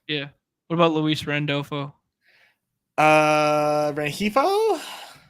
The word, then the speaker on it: Rengifo: Rengifo? Renhefo, is that how you say it?